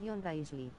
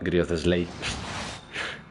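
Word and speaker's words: Wriothesley: Diocesli pronunciación Grizzly. Pero sigo quitando buen daño Grizzly. con casco de probabilidad. Grizzly. Ya antes le decía Griothesley. Griothesley. Grizzly.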